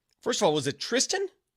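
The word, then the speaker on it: Thriston: know that's what guys it's pronounced Tristan is what somebody says you know what then get rid of the H what what are you doing the H for me it's it's Tristan but there's an H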